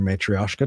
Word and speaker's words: matryoshka: on said, Eric, they're not babushka dolls, they're matryoshka dolls. Is that how you pronounce matryoshka.